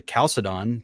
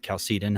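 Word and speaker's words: Chalcedon: is I got to calcidon calcitin however you want to pronounce it and like here were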